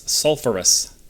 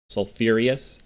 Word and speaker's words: sulfurous: they mispronounced that it's sulfurous that's how you pronounce that sulfurous there's no I in there sulfurious sulfurious sulfurous it should